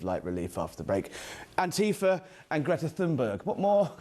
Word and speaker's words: Antifa: And I've been taught by an American to pronounce it properly, Antifa.